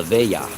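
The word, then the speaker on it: veglia: family custom called the Vale that spelled ve GLI a but it's pronounced like vey yeah this is a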